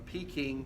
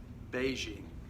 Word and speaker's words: Beijing: The Chinese people probably started a movement to change the spelling to more closely match the way it is pronounced. So it went from Peking to now Beijing.